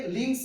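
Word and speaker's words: limbs: क्या बोलेंगे, लिम्स बोलेंगे, क्योंकि एम के बाद जब कभी बी आता है तो बी क्या होता है, साइलेंट होता है। जैसे आप बोलते हो BOMB, बॉम्ब नहीं, उसे क्या बोलते हो, बॉम्ब। THUMB को थम बोलते हैं, NUMB को नम बोलते हैं।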